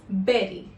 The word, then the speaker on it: bury: So, how do we pronounce it? The correct way is bury.